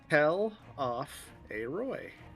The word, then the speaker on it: Telophoroi: Also, I think I figured out how we could pronounce Telophoroi. Oh. Tell off a Roy.